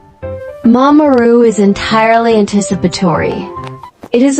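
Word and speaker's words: 見守る: Mimamoru, pronounced me-ma-mo-ru, it translates literally as to watch and protect.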